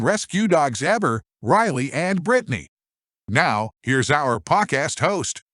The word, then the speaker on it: Bretagne: And Brittany, while the name looks like it's French, it's spelled Bretagne. It is actually pronounced Brittany.